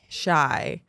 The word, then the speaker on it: Shai: Shai.